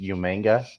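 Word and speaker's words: Umaga: And Pez, it's pronounced Umanga. Umanga. Yeah. Umanga. I get the accent. Where does the N come from? Yeah, there's like hidden letters in there you're missing.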